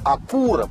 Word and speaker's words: Acura: лап и между прочим ударение по идее должно делаться на втором слоге acura потому что аку во многих языках означает точность аккуратность в общем даже посмотри